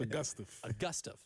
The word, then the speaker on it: Augustave: And I will never call Isaiah Augustave ever again. Still has to go through the check in my mind, but it's Augustave. Isaiah Augustave.